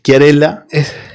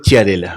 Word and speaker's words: Chiarella: La verdad que está muy bien pronunciado, es Chiarella, pero en Venado y en el interior es Chiarella. Chiarella. Chiarella, ¿viste? Es decir, pronunciado concretamente Chiarella.